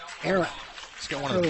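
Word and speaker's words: Ehrin: His first name is spelled E-H-R-I-N. Aaron.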